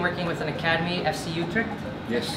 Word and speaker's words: Utrecht: He's doing a lot of cool stuff, including working with an academy, FC Utrecht. Yes. Correct pronunciation?